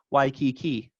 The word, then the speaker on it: Waikiki: indicated to me wow we have preserved some of the vowel qualities of waikiki because in english we say it kind of even stressed why key key right they would all act as their own foot unit now we have kanaka